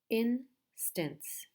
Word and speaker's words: instance: achieve chief achieve initial initial initial instance in Stan's instance potential per 10 Joe potential